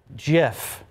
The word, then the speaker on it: GIF: Peanut Butter with the GIF on the label, GIF, to prove it should be with a hard G. By the way, the creator of the image format says it is pronounced Jif.